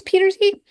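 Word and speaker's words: Pieterse: And Sasha Petersy, I think it's Petersy, is how you properly pronounce it.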